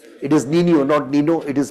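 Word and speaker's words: Niño: El Nino it is Nino Nino. It is pronunciation is Nino.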